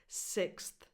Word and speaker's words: sixth: You have to say the th after the x sound. 6th.